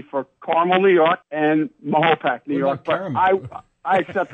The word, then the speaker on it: Mahopac: But since I'm a native and I was born here, I really need to refer to it to the proper pronunciation of Mahopac.